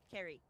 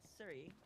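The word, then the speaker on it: Ceri: I am going back to using my name the proper way that it's pronounced, which is Carrie. Carrie. So, Carrie is my name and not Siri. I only started going by Siri because so many people want to argue with me that were fans of Crayotic. So, yeah, we're going to go back to my actual original pronunciation of my name. So, and it's Welsh, so I want to be have it correct because it's my heritage.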